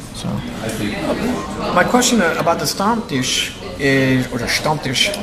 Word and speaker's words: Stammtisch: So my question about the Stammtisch is, or the Stammtisch. Stammtisch, that's right.